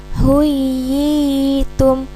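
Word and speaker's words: حُيِّيتُم: Contohnya, wa idza huyitum huyitum huyitum. Cara membacanya dibaca panjang dua harokat dengan memantapkan bunyi ya bertasydidnya. Huyitum huyitum.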